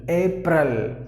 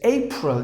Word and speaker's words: April: April, which is exactly incorrect. The perfect way to pronounce is April. Just imagine that there is just remove the A and then you just pronounce it as it is spelled.